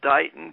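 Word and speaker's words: Dighton: was uh over in a little town called dyton Kansas it's spelled d-i-g-h-t-o-n way out in Western Kansas only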